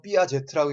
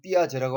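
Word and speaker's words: Piaget: 여러분 삐아제트라고 읽지 않죠? 그냥 삐아제라고 하죠.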